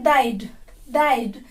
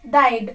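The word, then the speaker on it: they'd: मिलाकर बन जाता है डाइड। दे apostrophe and डी। डाइड। यहाँ पर भी आधा ई की मात्रा है, पूरा ई नहीं, आधा ई, तो उसको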